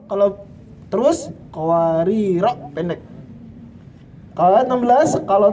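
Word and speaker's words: قواريرا: Qawarir ayat 15 kalau berhenti qawarira, kalau terus qawarira pendek.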